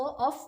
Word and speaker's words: of: ऑफ को एंड पे वी की साउंड आती है और ऑफ में एंड में एफ की साउंड आती है।